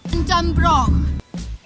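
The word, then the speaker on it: Dunbroch: How's it pronounced? Dunbrook.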